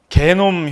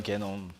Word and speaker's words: 게놈: 물 좀 마시겠습니다 여기 게놈 혁명 시대 이것 발음 이거 아닙니다 이거 이거 아니라 이거 하면은 욕이 돼요 개놈이에요 개놈 근데이 개놈이 뭐냐면 이것이